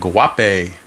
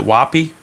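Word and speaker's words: Guaipe: how you pronounce it woppy I guess the g is silent so woppy wapi okay we'll go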